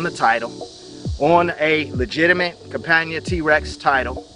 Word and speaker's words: Campagna: What a T-Rex is a three-wheel reverse trike manufactured by a company called Campagna Motors. Campagna is the way I pronounce it, but Campagna Motors if you want to be verbally correct.